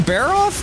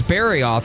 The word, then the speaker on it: Barioth: Baroth and Barioth. I was just like, oh yeah, I've got to fight a high-ranked Baroth? No problem. And then I realized that I got the name wrong and it was Barioth, and I'm like, what is this icy motherfucker?